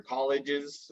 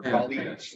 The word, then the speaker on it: colleagues: I think you were talking about your colleagues earlier, the people that you work with, and you said your colleges or colleagues.